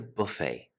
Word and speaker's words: buffet: probably my favorite the buffet buffet is a French word in origin so we do not pronounce the T Buffet buffets generally have